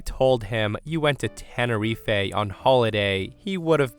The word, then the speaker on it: Tenerife: tell you all that I butchered the pronunciation of Tenerife the first time I read it. Guys, I said Tannerife, and StevieBoy was so appalled.